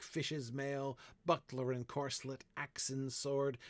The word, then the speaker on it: buckler: Buckler is the only word in the entire poem which is not iambic. because it has a stress on the first syllable.